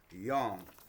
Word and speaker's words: Yang: Chi or Yin and Yang. So let me read this right quick. Yin and Yang pronounced yang as in gong as in gong is the is one of the most fundamental concepts in Chinese medicine.